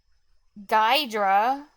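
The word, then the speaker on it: Ghidra: Or, oh, yeah, or Gidra. How do you Corrupt pronounce Converter that? says Ogidra. Gidra? Or is it, like, Jidra? GIF or GIF? Gydra.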